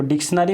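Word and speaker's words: dictionary: देखो डिक्शनरी में बोला जाता है डिक्शनरी, श का एक साउंड आता है, बट यहाँ पे S का इस्तेमाल कहीं भी नहीं होता है, इसको लिखा जाता है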